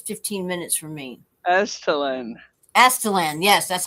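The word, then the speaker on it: Aztalan: Astalan, yes, that's how you say it.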